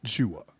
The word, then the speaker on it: Jua: to add it in and say Juan. Oh, okay. As if I don't know how to spell my name. Right. So so I said no, it's Jua. And when I was younger, teachers would mispronounce it a couple of times. We'd have to have a conversation. It's just Jua. It's 3 letters.